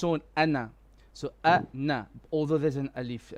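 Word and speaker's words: أنا: a verb but here anna on its own is short we do not pronounce the alif okay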